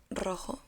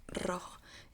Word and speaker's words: rojo: First of all, we have rojo, which is red. Rojo, rojo. In Spanish, you have to practice a lot the R, because we have like different pronunciations.